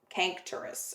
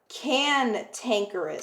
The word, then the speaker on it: cantankerous: Cankerous. Let me look that up really quick, guys. So give me a second. Cantankerous. Sorry, I've been pronouncing that wrong.